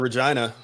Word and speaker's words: Regina: They got coming out of Regina. Right, lucked into that one. City that rhymes with fun.